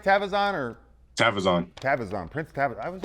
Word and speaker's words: Tavizon: Tavizon.